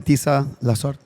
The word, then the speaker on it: Tisa Lasorte: no other than Tisa Lasorte.